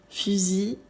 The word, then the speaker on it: fusil: Ceci, on ne prononce pas la L finale, on termine avec une I. Fusil, outil, sursis, persil, gentil.